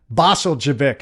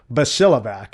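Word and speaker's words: Bosiljevac: author by the name of TL, I couldn't pronounce his name at all. Basel Javik is what I called him for years and that was the very first SEAL book I ever bought.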